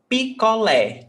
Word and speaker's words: picolé: Picolé. Picolé is like a popsicle. Okay? So picolé. 3 syllables. Pi, co, lé. Lé is the stressed syllable.